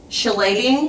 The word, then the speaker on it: chelating: Remember that word I asked you to pronounce? Mm-hmm. It was that word. Chelating?